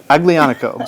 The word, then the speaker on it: Aglianico: So it's got a hard G in it. A lot of people just presume because it looks like it's of Spanish origin that the G would be an H sound, but Aglianico is the name of the grape.